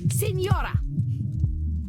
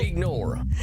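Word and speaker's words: Señora: It is Senora. Senora. Well, jeez, you don't have to be so mean. Then say it properly. I'm trying. Senora. Say it. Okay. Signora. Senora. Senora. Senora?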